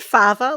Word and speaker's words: Farver: Did you say fava, like fava beans? Fava beans. Well, yes, I think so. It is spelled Farver. So, right. Yes, I think so. But I find it a difficult word to say, actually. Why do I find that hard? Farver. It could be favour.